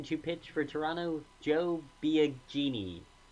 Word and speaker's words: Biagini: pitch coming in to pitch for Toronto Joe Biagini correct pronunciation here finally something different after a groundout